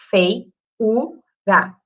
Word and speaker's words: feiura: Feiura. E o U nitidamente mais forte.